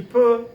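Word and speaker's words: peut: report you put you put but guess what pronounced the same spell different so this is a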